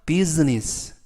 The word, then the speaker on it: business: from, 뭐뭐로부터, business, 사업으로부터, 이때 business, S 발음이 스 발음이 아니라 Z 발음이고요. 그리고 I가 묵음이라서 비즈니스가 아니라 business, business라고 발음하시면 좋겠습니다.